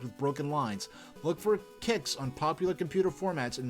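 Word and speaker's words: Qix: classic strategy the strategy action classic pronounced kicks this abstract game pits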